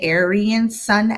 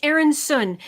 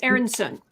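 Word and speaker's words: Aeryn Sun: I want to say Aryan Sun X. Oh God, I'm so sorry. It's Aaron Sun.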